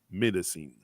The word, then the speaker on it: médecine: It's médecine. Médecine. Medicine. Uh-huh. That's it. Médecine comme dans méditation, etc., etc.